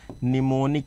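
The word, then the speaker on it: mnemonic: हम लोग बोलते थे एम साइलेंट रहता था निमोनिक कोड क्या बोलते हैं बेटा निमोनिक कोड बोलते हैं।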